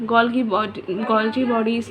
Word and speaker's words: Golgi: हाँ, उसके कुछ ऑर्गेनेलीज के एग्जांपल हैं माइटोकॉन्ड्रिया, सेंट्रोसोम, गोल्गी बॉडीज़ या गोल्जी बॉडीज़, जो तुम्हें बोलना है वो बोल लेना। मैं गोल्गी भी बोलती हूँ, गोल्जी भी बोलती हूँ, दोनों प्रोनाउंसिएशन सही है, ठीक है।